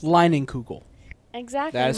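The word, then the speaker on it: Leinenkugel: berry wise from i never know how to pronounce it lining kugel exactly that's how you pronounce it it's pronounced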